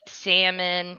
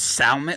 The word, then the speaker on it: salmon: Whoever says salmon, whoever puts the emphasis on the L in Yeah, salmon, you you need to be pimp slapped.